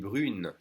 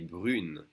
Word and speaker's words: brune: And for a girl, elle est brune. Now we separate the U and the N, and we do pronounce the N. Elle est brune.